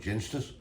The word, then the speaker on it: Ginsters: They are the Ginsters, or Ginsters, however you want to say it. I call it Ginsters. As I always said, at the end of the day, if you buy a bottle of gin, it's spelled G-I-N. You don't say give us a bottle of gin, do you? Well, that's my theory anyway.